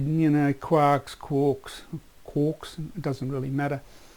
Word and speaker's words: quark: Now the pronunciation of that, I say quarks. The guy who originally coined the word was tossing up between quarks and quirks, or quarks. A lot of people, a lot of physicists will call it quark, to rhyme with talk, and others will call it quark, because the original poem that it came from was talking about a person called Mark, Mr. Mark, M-A-R-K.